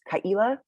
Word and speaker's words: Ka’ila: Yeah, it is my name does have a guttural stop, so it's Kaila, and sometimes it's spelled G with an apostrophe E-E-L-A, like Kaila.